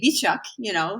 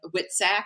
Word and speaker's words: Witczak: In When I was in Poland, I remember they would say Witczak, how you're pronouncing it. But in the States, like Witczak, like sack of wits, Yeah, is how I say it.